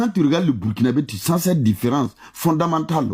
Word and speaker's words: Burkinabé: La bonne prononciation, là, c'est ça, Burkinabé.